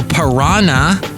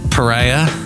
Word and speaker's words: pariah: don't be a social don't be a social piranha and people are going wait what isn't that how you say it it's Pariah like Pariah Carey and then what's the